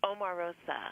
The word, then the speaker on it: Omarosa: Now, well, Omarosa, is that how you pronounce it? Omarosa. How do you pronounce it? It's Omarosa.